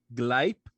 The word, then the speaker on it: Gleipnir: I don't even know how to pronounce what you just said. So obviously, I don't. That. Watch my lips. Gleipnir.